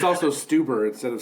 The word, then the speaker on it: Stuber: It's also Stuber instead of Stuber, but that's a hard one to pronounce.